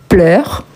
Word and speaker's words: pleures: La prononciation, c'est exactement la même, mais ici, on écrit avec S.